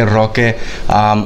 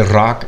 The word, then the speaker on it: Roque: My name is Roque, or Rock, it depends on how you want to pronounce it.